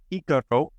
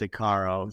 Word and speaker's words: Icaro: Serio here of uh iaro yate I want making sure I'm pronouncing iaro Notaro correct yes um although we do for uh for our American audience we do accept aaro so either one wonderful what